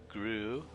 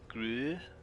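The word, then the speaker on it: Grøh: Here's a new character, the Gru. That's an oo sound, isn't it? The O with the line through it. Gru.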